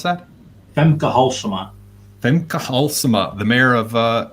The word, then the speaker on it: Femke Halsema: How do you pronounce that? Femke Halsema.